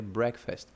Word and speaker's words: breakfast: Então, como o break tá alto e o fast tá baixinho, seria breakfast.